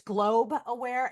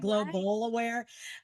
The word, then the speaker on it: Globe Aware: And it's actually, if you don't mind me, it's Globe Aware. And so many people make that. We've Oh, tried to buy right. Global Aware, but it's always been three syllables, and it's everyone always calls it global.